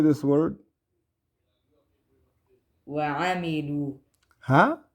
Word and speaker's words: وعملوا: وعملوا Huh? وعملوا وعملوا. Yeah, and it's not, so you were saying noon before. It sounded like a noon.